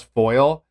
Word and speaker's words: FOIL: I thought these guys had their Western New York accent and they were mispronouncing FOIA as foil, but it's actually an acronym, FOIL, Freedom of Information Law in New York.